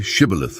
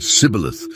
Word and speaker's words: Shibboleth: The word Shibboleth meant either stream or grain stalk in Hebrew, but the Ephraimites pronounced it differently than the Gileadites did.